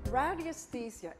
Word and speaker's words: radiesthesia: radiesthesia. It's such a difficult word to pronounce in English. It's actually a French word, radiesthesie, which comes from the Latin